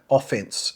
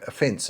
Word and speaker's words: offense: Americans are heavily stressing second syllable. We would never say offense and defense. We would say offense and defense.